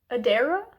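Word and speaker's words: Adaira: know that Jack and Adera I think is maybe how her name is pronounced a d a i r a i know they're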